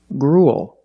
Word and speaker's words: gruel: and a similar pronunciation gruel again we see the uel making the long u sound followed by a dark L just like in the words pool and cool gruel gruel is a